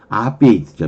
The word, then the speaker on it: obviate: 따라서 강세가 있다는 것은 방세가 있다는 것은 R로 발음될 확률이 높은 거죠. 어는 아니죠. 어는 거의 강세가 없잖아요. 앞베이트죠.